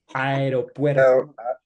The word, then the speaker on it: aeropuerto: Aeroporte? Aeropuerto. Aeroporte. So you see Aeropuerto. that is AE, aeropuerto, aeropuerto, right?